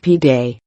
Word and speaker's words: pide: But instead of pizza, people are lining up for its Turkish cousin, an oblong flatbread called Pide, pronounced Pide.